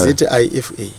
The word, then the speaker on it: Zifa: ZIFA. Okay, ndo yebhora ke. But the pronunciation chiti ndo inozongosiyana.